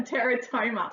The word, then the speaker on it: teratoma: Is that how you say it? Yes, a teratoma.